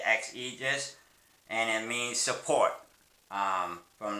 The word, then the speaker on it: XAegis: If you want to know what that word actually means, it means, they say it's X, and you pronounce it XAegis, and it means support, from like the Romans and stuff like that.